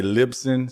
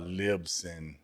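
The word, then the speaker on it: Libsyn: right all right and how do you pronounce this other one is it lips Lipson some people say Lipson some people say uh libson still the same tomato tomato scene and I feel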